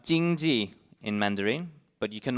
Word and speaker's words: 经济: And so it's pronounced 经济 in Mandarin, but you can also pronounce it in different ways in other regional Chinese languages, such as here in Cantonese.